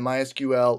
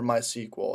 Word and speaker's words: MySQL: now we're finally going to jump into MySQL or my sequel and they both mean the exact same thing it's just two different ways how to pronounce it so for the remainder